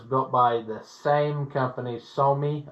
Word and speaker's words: SAME: This is one of the ones that was built by the same company, Somi, I think they pronounce it, but it looks like the word same in English.